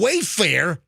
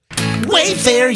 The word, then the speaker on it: Wayfair: chair just broke and as far as you Wayfarer no I've Rewritten the jingle Wayfair you made me bleed so yeah did I have an extra syllable in that lesson it worked I